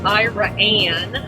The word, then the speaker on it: Iraan: Yeah, we just came through Iran, which is spelled Iraan. Second A's for America. Iran. It is kind of funny because that's Iran, which is almost like Iran.